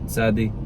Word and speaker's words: tsádi: That one is thaw in Arabic, and also Hebrew was probably similar to that, but otherwise just do TS. That's what modern Israelis do. It's what most people do. So tsádi, kuf, reysh.